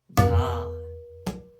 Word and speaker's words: dha: When we strike na and ghe at the same time, it pronounces dha.